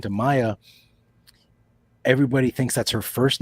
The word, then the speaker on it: Maia: it it's okay so Mark how do you pronounce your last name Maya Maya Maya Maya he nailed it woo Maya